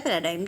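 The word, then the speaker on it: paradigm: पैराडाइम है इसका मतलब, इसका प्रोनाउंसिएशन हमारा होता है पैराडाइम, ठीक है।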